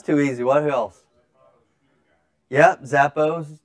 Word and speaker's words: Zappos: Yep, Zappos, not Zapatos, but good try.